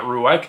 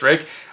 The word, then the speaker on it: Ruike: believe that's a pronunciation not ruik I'm pretty sure it's Rick on the front side